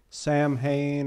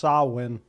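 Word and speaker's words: Samhain: is it the concept that on Halloween or Sam Hayne or I think they call it it's actually pronounced sawwin yeah if you want to get very nerdy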